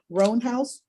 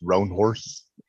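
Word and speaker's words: Roanhorse: Roanhouse. Here, Your Honor. It's pronounced Roan Horse.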